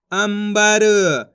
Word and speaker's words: अंबर: देखो किस तरीके से है, आम अनुस्वार की मात्रा अम ब र तो मिलके बन जाएगा अंबर। इस शब्द के अंदर अपन आधा माँ का उच्चारण करा है, क्यों करा है पता चल गया आपको।